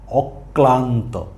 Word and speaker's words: অক্লান্ত: অক্লান্ত তার মানে এই স্বর অ এর উচ্চারণের পরে একটা ক এর উচ্চারণ আসছে অক অক তারপরে আবার